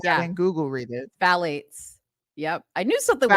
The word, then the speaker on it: phthalates: I'm guessing something is silent. Something doesn't have a sound. Something doesn't have a sound. Wait, read out loud. Phthalate. Phthalate? Pathalates. Hold on. Fat. Phthalates.